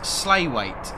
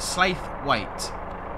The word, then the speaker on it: Slaithwaite: It's pronounced Slaithwaite. Slaithwaite.